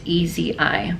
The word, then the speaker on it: Ezi: It's E-Z-I, but when she channeled herself through a client, that's how she pronounced what her real name is. And somehow through the years we've interpreted it as Isis, so it's actually Ezi.